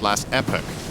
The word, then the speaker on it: Last Epoch: in last Epoch however that's not how you say it app that's right oh yeah I need to do my American uh pronunciation of words so it's last epic yeah I don't know